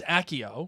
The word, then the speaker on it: Accio: pronounce it is it accio acio accio or as a co because it'd be like cappucci it'd be like cappuccino like because the double c's but in the film it's accio i know which would